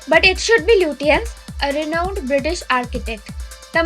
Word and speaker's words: Lutyens: I'm not sure if I'm pronouncing it correctly, but it should be Lutyens, a renowned British architect.